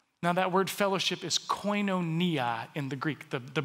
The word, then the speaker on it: koinonia: of us together now that word fellowship is koinonia in the greek the the brits say koinonia but they also say aluminium and vitamins so what do they know coinonia is is is this it's relationship plus partnership